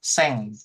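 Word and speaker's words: 千: Nah, terus kemudian kita 1000 sekarang nih 1000 dibacanya seng. Nah, 1000 berarti 1 2 3. Nah, coba tuh. Eh, iya tarik entar. Heeh. Iya, betul. Oke ya, itu bacanya seng 1.000 gitu ya.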